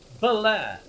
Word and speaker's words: Baler: Ola inside of the Philippines are but it's pronounced Belair by the locus mainly the same thing Maybe